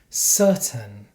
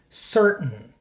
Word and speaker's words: certain: look at some examples this is not how we pronounce these words in standard American English certain Buton Britain WR Martin Manhattan in American English we pronounce these words like this certain button Britain written Martin Manhattan so for example I'm